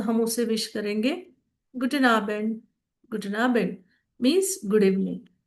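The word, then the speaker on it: Guten Abend: मान लो अगर आप इवनिंग में मिल रहे हो तो हम उसे विश करेंगे गुडन आबेंड.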